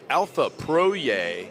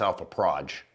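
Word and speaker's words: Alfa Proj: I'm a redneck, so it's, you know, it's P-R-O-J, so it's like, that's to me, that's Alpha Proj. But, you know, I realize that you Europeans pronounce things differently.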